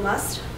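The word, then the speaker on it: مصر: you should ask me um so egypt also must that's how you what you call it and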